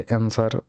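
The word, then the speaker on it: answer: आंसर लिखा गया है, तो आंसर डब्ल्यू मतलब क्या है, साइलेंट है। तो इसलिए इसका सही ऑप्शन क्या हो जाएगा, डी हो जाएगा। आंसर आंसर बोला जाता है, आंसर, यहाँ डब्ल्यू नहीं बोला गया।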